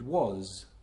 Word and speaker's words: was: the top twelve so is and was are words that have an s at the end but they're pronounced z so if you see